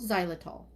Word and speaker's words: xylitol: Zy Zylitol Xylitol that's how we say it right. XY L I O T O L helps inhibit bad bacteria.